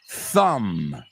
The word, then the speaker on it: thumb: So, climb, thumb, dumb, numb, bomb, tomb. What do all these words have in common? The B's are completely silent at the end.